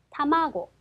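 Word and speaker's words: 卵: 라게츠 라게츠가 됩니다 자 이번에는 어 중에서 내려갑니다 자 중간에서 내려갈 거고요 요런 모양을 쓸 겁니다 자 달걀이라고 하는 단어 타마고 악센트 표시 보실게요 타마고 타마고 자 비행기라고 하는 단어입니다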